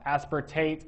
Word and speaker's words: aspartate: And uh aspartate rhymes with oxalloacetate.